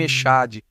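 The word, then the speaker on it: אחד: Na verdade, tanto é assim que, quando nós judeus pronunciamos a bênção do Shema, nós alongamos a letra D. Nós dizemos Hashem Eloheinu Hashem Echad, enfatizando o D.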